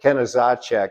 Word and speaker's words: Knezacek: Uh, and you can pronounce it any number of ways, but Kenizacek is what I've heard the most.